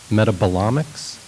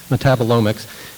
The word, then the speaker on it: metabolomics: This endeavor, referred to as metabolomics, thank you, emphasis on the wrong syllable, metabolomics, is an international collaboration